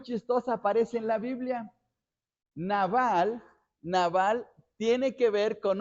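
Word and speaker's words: נבל: la traducción de una palabra hebrea que se pronuncia s naval pero una cosa muy muy chistosa aparece en la Biblia naval naval tiene que ver con una historia que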